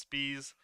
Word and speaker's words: Spies: Yeah, apparently his username on Melee is Spice, but his last name itself is pronounced Spies.